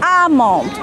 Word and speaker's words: almond: amount don't pronounce El alhir is a silent letter almond like salmon not salmon no salmon like wood